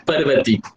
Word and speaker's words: Parvati: Some people maybe pronounce it as the Parvati, but it's called as Parvati.